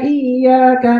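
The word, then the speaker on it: إِيَّاكَ: Ya ini fathah tapi ada tasdidnya, ya kan? Karena ada tasdidnya, maka bacanya jangan cepat-cepat. Iyyaka, iyyaka. Jangan terlalu nekan iyyaka, iyyaka. Enggak usah terlalu nekan. Yang penting ya-nya itu kebaca dua.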